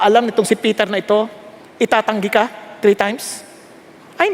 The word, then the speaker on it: Ai: No, some people they would pronounce it AI, some a yung iba naman a ito i basta sa atin I.